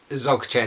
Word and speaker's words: Dzogchen: Dzogchen is how it's pronounced, but it's spelled D-Z-O-C-H-E-N, I think.